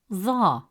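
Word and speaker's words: ظاء: Now let's look at ظا. It is a deep sound, pronounced from deeper in the mouth, with more pressure and emphasis on the tongue, pushed with more force from the back of the mouth.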